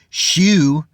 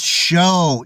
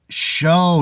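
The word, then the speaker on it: shew: the word show s-h-e-w is not to be pronounced shoe it's show e at the in the Old King James is show not shoe the word sword it's not pronounced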